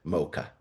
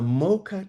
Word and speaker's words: Mocha: was shipped out through a port that was pronounced in Yemen, Yemen Arabic, al- Maka. You pronounce it mocha.